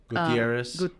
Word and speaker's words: Gutierrez: I hate saying the Z because if you say Gutierrez, like they're gonna spell it with an S, you know, and it's not with an S. There is Gutierrez with an S, but my last name isn't with an S personally.